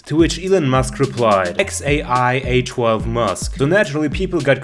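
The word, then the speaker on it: X Æ A-12: actually pronounce that name the name is pronounced X a I a 12 I just want you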